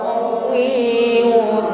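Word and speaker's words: قوي: qawiyun Aziz baik qo kuatkan pengucapan huruf qof qowi huruf Ya bertafdir tentu ditekan membacanya namun ingat sifat yang menyertainya yaitu Lin Luna setelah itu rakwa berarti bunyi hurufnya tetap ngalir Maka jangan putus atau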